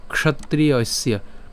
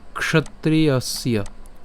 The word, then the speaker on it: ক্ষত্রিয়স্য: এরপর এর উচ্চারণ কেমন হবে, ক্ষ উচ্চারণ হবে, ক্ষ, ক এবং মূর্ধন্য ষ উচ্চারণ একসাথে উচ্চারণ করলে ক্ষ।